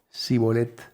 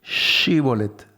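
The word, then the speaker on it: שיבולת: Bueno entonces digan shibolet Entonces los de Efraín no podían pronunciar la sh ves porque las regiones tienen sus características fonéticas y decían si bolet tenían que decir shibolet ellos decían zolet porque no podían pronunciarlo bien Y entonces los cogían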